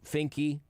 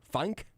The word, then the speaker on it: Finke: So Finke. I guess it could be pronounced either Fink or Funk. I think it's probably Finke.